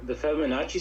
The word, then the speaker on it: Fibonacci: So is that, have you ever heard of like the Fibonacci sequence? I don't know if I'm saying it correctly.